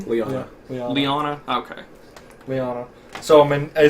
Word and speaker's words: Lyanna: Real quick, how do you pronounce her name? Lyanna.